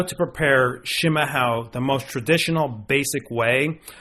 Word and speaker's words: chimarrão: showing you is how to prepare a traditional schima hell which is yerba mate a or herbal much as they pronounce it here in southern Brazil from a true Brazilian living in Porto Alegre Brazil jr.